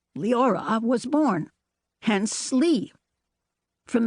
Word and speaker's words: Leora: In high school, I changed the V to R, and Leora, pronounced Leora, was born, hence Lee.